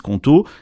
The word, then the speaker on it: Qonto: Il y a déjà 600 000 entrepreneurs qui utilisent Conto.